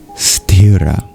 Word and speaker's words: sthira: The word of the verse is stirra.